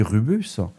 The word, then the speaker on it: Rubeus: L'outil Rubus, alors ça s'écrit RUBEUS, a permis d'exploiter cette évaluation pour